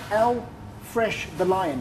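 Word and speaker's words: L-Fresh The Lion: So, to pronounce, it's L. Fresh the Lion.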